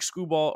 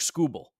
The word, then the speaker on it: Skubal: big one you mentioned Tariq skubal or sorry it's technically TK scoel TK skubal I always